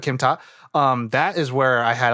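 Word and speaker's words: Kim Tar: It's spelled Kim, like the name Kim, space T-A-R, tar, but Kim Ta.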